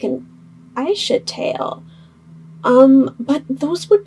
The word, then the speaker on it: Aisha: or an AA sorry I always say ASA because that's how I've always read it in my head even though I know it's Aisha so I apologize if